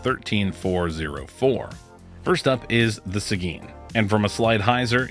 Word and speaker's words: Seguin: Yep, Seguin, that's how you say it apparently.